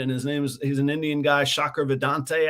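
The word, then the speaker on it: Shankar Vedantam: he's an Indian guy, Shakar Vedante, I think his name is how you pronounce it.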